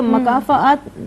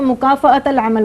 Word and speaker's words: مکافات العمل: اس سے پہلے تو میں تلفظ کا ایک تصحیح کر دوں کہ مکافات نہیں ہوتا، مکافات العمل ہوتا ہے.